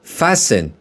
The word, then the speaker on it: fasten: خب بچه ها، پس fasten که تش تلفظ نمیشه.